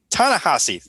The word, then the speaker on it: Ta-Nehisi: Really wish I remember how to pronounce his name. Ta-Nehisi.